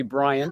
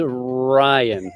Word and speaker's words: Ryan: So you've been saying his name wrong the whole time. What is your name? Yeah, the name is Ryan. There's no B in there.